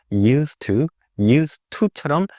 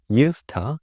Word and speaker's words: used to: 터 이렇게 발현되기도 하고요 US to 이렇게 발현되기도 하는데요 조금 더 빠르게 외국인들이 말하는 거 잘 들어보시면 스 이렇게 빠르게 말하면처럼 들리기도 하고 천천히 말하면 US to처럼 나라기도 합니다 그래서 to 이렇게 발음해 주셔도 좋고요 user 이렇게 발음해 주셔도 좋습니다 뜻은 과거에 뭐뭐 했었습니다